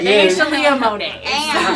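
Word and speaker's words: Sheleah Monea: It's actually just Shalia Monet, and my name is spelled SHELEAHMONEA. Shalia Monet.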